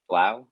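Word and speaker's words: 3LAU: The DJ was like the number three and Lau Blau. Is it Blau?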